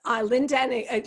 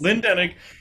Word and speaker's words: Lynne Denig: Is this the correct pronunciation, Rachel? Is Lynne Denig, yes, yes. Lynne Denig.